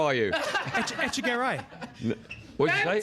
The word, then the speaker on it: Echegaray: Echegaray.